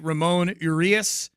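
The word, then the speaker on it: Ramón Urías: Ramon Urias is what I'm being told it's pronounced.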